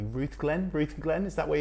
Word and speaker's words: Rutherglen: the beginning and am I pronouncing it correctly Ruth Glenn Ruth Glenn is that where you're from so weird I was actually born what was rutherglen right okay so it's just next to cameras